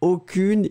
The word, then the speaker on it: aucune: So he's not really pronouncing the aucune like he should. He's going between the two. It's aucun, aucune.